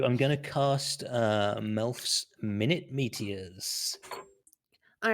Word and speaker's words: Minute: So I'm going to cast Melf's Minute Meteors. All right, who are you casting it on? Minute. So it's pronounced minute actually.